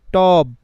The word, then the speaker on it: টব: অনেকে বলবেন ভাই আমি কেন টয়ের নিচে দিলাম না, টয়ের নিচে দিলাম না কারণ ভাই টয়ের অত উচ্চারণ করছি, আমি বলছি টব, টয়ের সাথে অটা উচ্চারণ হচ্ছে, কিন্তু বয়ের সাথে যে উচ্চারণটা অয়ের সেটা আমি করছি না, এই জন্য এখানে একটা কি দেব, হসন্ত দেব।